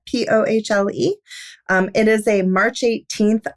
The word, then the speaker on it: Pohle: Up at Work, by Allison Pohl, I believe is how you say it, Pohle.